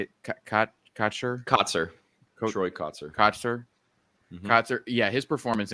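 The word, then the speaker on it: Kotsur: Troy Kotzer.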